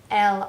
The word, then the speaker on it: elles: Have a group of women together, an S to make it plural, we don't pronounce it.